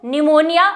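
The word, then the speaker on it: pneumonia: बीमारियों से वाकिफ होंगे तो निमोनिया और यहां पे ध्यान देने वाली बात है इसकी स्पेलिंग जो की आप कभी गलत नहीं करेंगे क्योंकि निमोनिया की स्पेलिंग पी से शुरू होती है ठीक है ये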